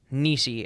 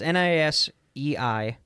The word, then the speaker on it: Nisei: YouTube video with a guy who knows much more what he's talking about, I think, says it's pronounced Nisei. It's Nisei.